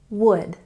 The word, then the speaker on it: would: And even though there is an L in this word, we don't pronounce it. We say it would, would.